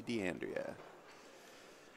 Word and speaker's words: D'Andrea: did I say her name right yeah Tracy d'andrea she's earned a spot in this final by